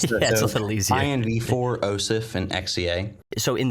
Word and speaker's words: InvArch: I've been calling it InvArch just for the sake of pronunciation, because some people might struggle. Okay. It's a little easier. InvArch, OSIF, and XEA.